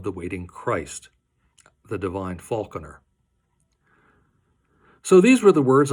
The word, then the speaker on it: Falconer: falconer by the way I prefer the pronunciation Falconer it sings better from a formal standpoint